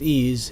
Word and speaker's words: EES: EES which is pronounced ease is an acronym for